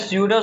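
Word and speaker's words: pseudo: Spelling पे ध्यान देना, पी साइलेंट है, ये नहीं हो कि बस एस से स्टार्ट कर देना, पी साइलेंट है, स्यूडो सॉलिड बोलते हैं। जिसको नहीं पता हिंदी में वहां पे लिख लेना स्यूडो, या फिर सूडो भी बोलते हैं, स्यूडो भी कोई बोलता है, कोई सूडो भी बोलता है, तो याद रखना।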